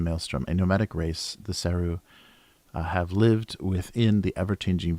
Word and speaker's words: Seru: The Seru, pronounced Seru.